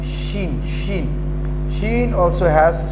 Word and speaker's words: Shin: Then Shin, my dear students, Shin, the sound will be dashing. Shin, Shin.